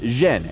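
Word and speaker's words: 甄: In the Beijing dialect, his surname is pronounced Zhen, and Yen is the Cantonese pronunciation.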